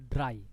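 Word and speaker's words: drei: Jadi ini bacanya itu dry 3.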